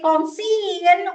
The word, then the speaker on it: conceal: okay then re we don't say we don't pronounce the second vowel okay we say conceal we don't say conal okay we say Jew